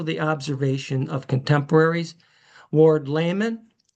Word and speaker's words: Lamon: Ward Layman, although I've been told that the pronunciation of Lamon at that time with Ward Layman was lemon.